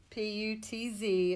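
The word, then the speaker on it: Putz: in starting the put PU TV it's pronounced put like the word put with a s on the end and they still do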